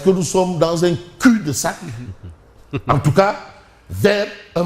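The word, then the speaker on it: cul-de-sac: Tu sais le professeur Pabo Diban va me dire le L ne se prononce pas ne se prononce pas. Est-ce que nous sommes dans un cul de sac en tout cas vers un blocage ?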